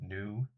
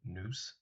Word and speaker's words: Nous: Hopefully, I can change that to the new or noose. I still should ask those people if they pronounce the S.